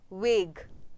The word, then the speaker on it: vague: V, yes, vague, इसको हम pronounce करते हैं VAUGE, vague.